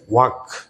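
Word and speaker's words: walk: যেমন হচ্ছে ওয়াক, ওয়াক, এখানে কিন্তু এলটা সাইলেন্ট হয়ে গেল।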